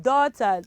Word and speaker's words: daughter: do you pronounce that how do you pronounce those children daughter good job you daughter gh also is silence in that example and also